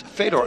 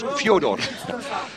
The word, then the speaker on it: Fedor: it's not bass rten and it's also not Fedor apparently it's Fodor a name A Rose by Any Other Name